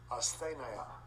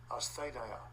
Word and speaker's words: asthenia: The pronunciation being off. G 769. Asthenia. Yeah. Asthenia. Asthenia.